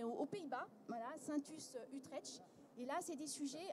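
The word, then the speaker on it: Utrecht: Pays-Bas voilà sainte usse utrech et là c'est des sujets encore eu très utrette où je prononce comme il faut on est sur voilà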